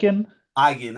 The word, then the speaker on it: Mygind: How is it how is how is the pronunciation of your last name? Uh, Mike. Migin.